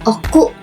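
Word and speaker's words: 奥: Cara baca ongyominya itu o, dan kungyominya itu oku.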